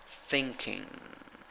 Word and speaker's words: thinking: ing you have um it's not like g in spanish it's like a mix of n and g we don't have that